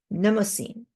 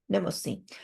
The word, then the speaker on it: Mnemosyne: I think the M is silent. So if the M is silent, then it's Mnemosyne. Mnemosyne.